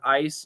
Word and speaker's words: ice: difference between eyes and ice yes the z and s so e y e s is a z sound i z and ice is an s sound otherwise they're the same